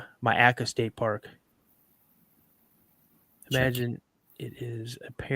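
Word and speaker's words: Myakka: It's pronounced Myaca State Park.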